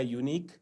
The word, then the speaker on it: unique: और same type का शब्द बन जाएगा यूनिक, UNIQUE, यूनिक, यूनिक में UE साइलेंट है, यूनिक, यूनिक माने बिल्कुल अपने किस्म का, अलग किस्म का, यूनिक, राइट।